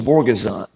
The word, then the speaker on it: Borguezan: they call me and they say mr vorgason and that's exactly how you pronounce i heard about